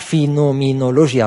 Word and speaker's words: فينومينولوجيا: هاد ما تديوش عليا، راه هذه الكلمه هكا كتنطق فينومينولوجيا الروح.